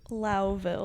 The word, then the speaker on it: Lowville: Louville. Louville, but you just call it Cowtown. Yes. There's mad it's cow. spelled like Lowville, Okay. but it's Louville.